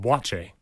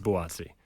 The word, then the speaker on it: Buatsi: is very similar his last name is actually pronounced Bache it's not pronounced buatti see but it's something that's happened and we've